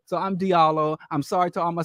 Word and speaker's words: Diallo: known as Is it Jalo? Is that how you? Bro Diallo. Brother, no, you said the proper pronunciation of It's Diallo. Diallo. I thought you said Jalo.